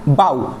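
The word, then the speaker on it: bough: চলুন শুরু করা যাক যেমন বাউ বাউ মানে হচ্ছে গাছের ডাল যেখানে জি এইচ টোটালি সাইলেন্ট অর্থাৎ অনুচ্চারিত তারপর ব্রাইট ব্রাইট মানে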